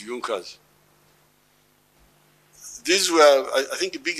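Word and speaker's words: Junker: don't know this European they write junas but they say yunas the pronunciation is yunas these were I think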